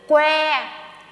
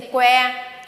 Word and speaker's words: Quế: But if you remove the name if you remove the diacritics, my name would become Q-U-E, and it's pronounced like this: Quế. Can you say Quế?